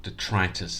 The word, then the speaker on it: detritus: Thank you for joining me as we look at detritus uh or detritus as some people might pronounce it.